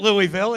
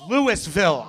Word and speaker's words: Louisville: I pronounced it instantaneously it's not Louisville it's Louisville I know Louisville you gotta be drunk to say it right Louis me and the